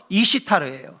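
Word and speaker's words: Esther: 된 겁니다 근데 진짜 원래 페르시아에서 부르는 이름은 이시르 이시타 예 이시타 에스더 그러니까 페르시아의 정통 발음은 뭐냐면요 이시타 이게 바로 우리가 지금 성경에서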